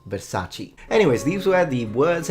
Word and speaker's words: Versace: And it's fettuccine, not fettuccini. Just like Versace, not Versace.